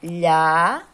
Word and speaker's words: Lhasa: Lhasa. Esse S aqui, ele tá com som de Z.